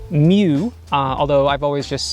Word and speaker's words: mju: the olympus mju2 which apparently is pronounced mew although i've always just said mju and i'll continue to